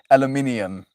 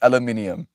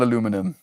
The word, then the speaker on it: aluminium: Most say aluminium. It's aluminium. It's not aluminum.